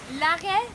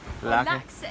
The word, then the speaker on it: Laxe: Lage? Laxe. It's spelled Laxe.